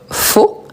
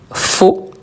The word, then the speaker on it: faux: Je vous rappelle que a + u en français, on le prononce o donc faux ou faux.